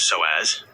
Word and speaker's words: psoas: When you feel constant tension here, you are dealing directly with the SOAS, pronounced SOAS, and pelvic floor muscles.